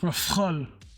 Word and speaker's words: Rafale: Proper French pronunciation should be pronounced like Rafale, but more stress on the F. Rafale.